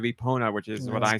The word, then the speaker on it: Epona: Burn and Chief says their friend legit says Eponia instead of Epona, which is what I say as a joke.